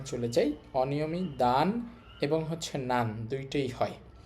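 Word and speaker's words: 男: দানশি, দানশি অর্থ হচ্ছে ছেলে।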